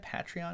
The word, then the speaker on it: Patreon: on my Pat am I saying it right patreon account Cedric Mullins 250 purple paper for rich